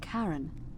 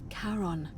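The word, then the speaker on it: Charon: it's just as you described it only your pronunciation is a little off the name you heard wasn't karen it was c-h-a-r-o-n as in caron the ferryman of the dead karon who in exchange for the right coin helps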